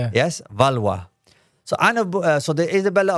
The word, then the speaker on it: Valois: I noticed in the introduction you missed out the valwa, which is fine because unless you're comfortable with saying it and pronouncing it as the French do, it's a bit of